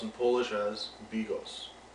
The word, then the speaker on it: Bigos: In this episode, I will teach you how to make hunter stew, or pronounced in Polish as Bigos.